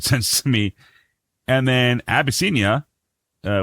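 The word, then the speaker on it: Abyssinia: And then Abbyia, uh, which is actually how it's said, not albby, but it's abbiscia is something that I took off a mash and Colonel Henry Blake.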